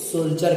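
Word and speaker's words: soldier: ई आया हो, तो डी का उच्चारण ज होता है। जैसे यहाँ पर देख लीजिए, जी आर ए एन डी यू आर, इसे ग्रैंचर करिएगा, एस ओ एन टी आई ई आर, इसे सोल्जर करिएगा।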